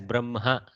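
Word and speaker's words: ब्रह्मा: So when the makara is inside the hakara, Brahma, we attack the makara first and then the hakara. Brahma is how it is spelled, but it is read as Brahma, like that.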